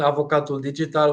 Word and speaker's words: avocat digital: instead nice well welcome here how do we pronounce the name of your startup correctly it's called avocat digital which is actually the digital lawyer in English